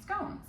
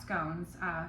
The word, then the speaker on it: scone: So we call it scone, so we're going like tone, right? And then elsewhere they might say, like where Paul Hollywood's from, they might say scone, like gone.